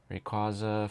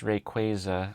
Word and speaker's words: Rayquaza: just always sells or sorry, I pronounced it wrong. It's Rayquaza. I know. I know Pokemon like confirmed that a while ago.